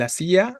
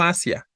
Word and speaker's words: hacía: El hacía acá tiene tilde, no hacia, así a, ¿no? Con tilde sobre la i, con sílaba tónica en la i.